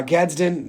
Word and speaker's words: Gadsden: getson the second uh Gadsden is how you actually pronounce it excuse me for uh butchering